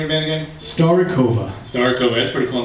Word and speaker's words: Starivoka: So, how do you pronounce the name of the band again? Starikova.